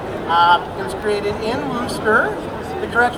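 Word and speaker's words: Worcester: it was created um it was created in wooster the direct pronunciation of the booster shirt uh wooster's little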